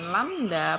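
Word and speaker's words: λ: Lambda itu simbol lambda itu. Coba bentar. Oke. Saya tunjukkan ya. Nah, ini itu adalah panjang gelombang. Itu bacanya lambda, bentuknya seperti ini. Nah, gitu cara menuliskan. Oke, paham ya? Itu lambda bacanya.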